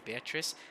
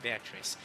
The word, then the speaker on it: Beatrice: chichi but i think the english pronunciation is actually beatrice so really if i